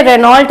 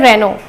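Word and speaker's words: Renault: भी हो कि ये रेनॉल्ट है, क्योंकि ये फेमस कार है, ये आप अक्सर आप लोगों के पास दिख जाती है। सो ये रेनॉल्ट नहीं है, इसका प्रोनाउंसिएशन होता है रेनो।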